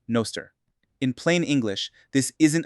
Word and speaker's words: Nostr: Agents get cryptographic identities and defined permissions, and the platform runs on the Nostr protocol, pronounced "Noster".